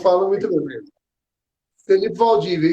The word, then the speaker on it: Valdivia: Felipe Valdívia, E- isso.